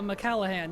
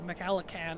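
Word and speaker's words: MacLachlan: it's it's interesting sting yes sting on Kyle mallahan yes thank you maakan I always say that name wrong thank you the original Dune is so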